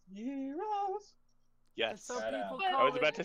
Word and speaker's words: gyros: Actually pronounced gyros.